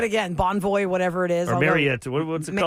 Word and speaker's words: Marriott: Whatever it is Marriott Marriott, not Marriott. We learned that it's Marriott. We're saying it wrong.